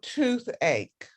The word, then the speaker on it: toothache: so that's headache backache and then stomach ache you have the ch pronounced k twice and then toothache and then number six